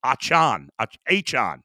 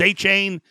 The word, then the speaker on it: Achane: Achane. I thought it was A-Chain. It's not.